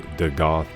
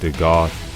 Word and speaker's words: Dagath: today's video we have The Goth rhymes with seag goth probably dealing or relating